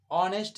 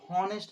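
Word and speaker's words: honest: जैसे ऑनेस्ट, जैसे ऑनेस्ट, ऑनेस्ट इसे पढ़ा जाता है, हॉनेस्ट नहीं पढ़ा जाता है।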